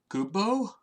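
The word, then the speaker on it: Goobbue: no they're not called I always call him gob you because it's to be there's - ooh ooh oh s--- as well like the official way to pronounce it is like boo boo or something like that like this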